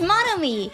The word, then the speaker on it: Monomi: I thought when she came in and said, it's Monomi, I thought she was correcting my pronunciation of it. That's funny. It's Monomi, you fucking idiot.